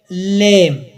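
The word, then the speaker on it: lamb: لیم بی نه تلفظ کېږي.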